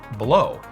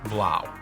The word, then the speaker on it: Blaux: in my last episode I said below and apparently it's actually pronounced blow Google translate you lied